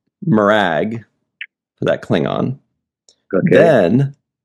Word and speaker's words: Morag: And then Riker even changed the way he pronounced. At first, Riker called him Murag, and then later on, he called him Morag.